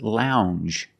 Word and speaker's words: lounge: And this word is lounge. Lounge. It makes the regular n, plus the j, lounge.